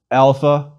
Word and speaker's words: alpha: our own letter A it is always pronounced when long like the a in father or when short more like aa it is never ever pronounced like the a and cake or the air and cat please repeat alpha ah